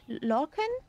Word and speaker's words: Lorcan: Ja, wie spricht man das aus?. Okay, und der Vorname? Lorcan?